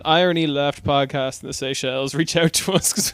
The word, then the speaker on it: Seychelles: Well, since 2016 when he was doing that like weird shit in, how do you pronounce that country? Seychelles.